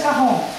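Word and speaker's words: quarante: Quaron in English, right? But in French, cajon. Cajon.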